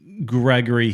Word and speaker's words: Gregore: pronunciation so i as as i understand it is gregory so right so it's gregory gregory he says gregor yeah that's what the